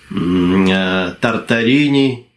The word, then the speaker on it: Тартарен: знаменитая трилогия романов о тартаре ней из тараскона именно тартарен как это правильно произносится по-французски которую у меня все